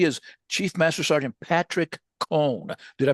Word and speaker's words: Cone: He is Chief Master Sergeant Patrick Cone. Did I pronounce it right, Patrick?